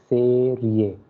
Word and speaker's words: serie: Okay, E is pronounced as A, so that's why it will be serie.